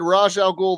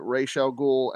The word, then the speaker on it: Ra's al Ghul: They said Ra's al Ghul the whole time, and it's Denny O'Neil, the creator, came out and said he pronounces it Ra's al Ghul, and that is phonetically how you're supposed to say it.